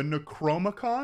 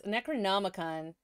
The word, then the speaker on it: Necronomicon: The Necromicon? He's talking about the Necronomicon, which is a fictitious ancient book of the dead. If he is talking about what I think he is and just saying it wrong...